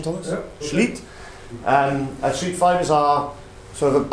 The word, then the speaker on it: Schlitt: Correct pronunciation, Thomas? Yeah. Schlitt.